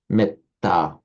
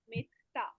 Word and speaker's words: metta: Which in Pali is pronounced with the e is shortened because it's followed by a double consonant, metta.